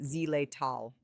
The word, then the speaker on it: xylitol: One artificial sweetener that should not be used with dogs is xylitol, pronounced zylleal.